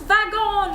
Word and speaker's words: wagon: Second way to pronounce it is as a V, like wagon.